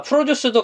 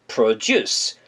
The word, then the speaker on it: produce: 자, produce도 강세가 juice에 있거든요. 그래서 produce, produce라고 발음해 주셔야 돼요.